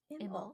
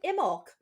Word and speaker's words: Imbolc: Oh wait, pronounced Imbolc. Imulk. I love when people put pronunciations. Me too. Imulk.